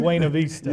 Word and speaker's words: Buena Vista: So- Real pronunciation, Buena Vista.